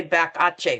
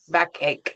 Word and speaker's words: backache: Backache. Do not say back. Ae. People go, "Huh?" What? Backachche.